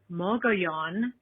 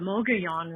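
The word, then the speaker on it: Mogollon: you can go to the rim, which is pronounced Moanon, the Moanon Rim, Moan.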